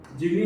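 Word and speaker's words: gemma: Fragmentation के through होगा, या और क्या होगा, एक स्पेशल स्ट्रक्चर होगा, जिसे क्या बोलोगे, जिमी या जीमा, जो भी आप प्रोनाउंसिएशन यूज करिए।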